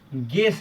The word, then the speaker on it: guess: देखिए, जैसे है G+U प्लस वॉवेल, इसका मतलब है कि GU के साथ अगर वॉवेल आए तो U का उच्चारण नहीं होता है। जैसे देखिए गैस है GUESS, तो इसमें